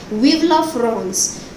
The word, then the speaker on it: Vive la France: Actually, students, this is a French phrase and it is pronounced like this only, Vive la France, which means long live France.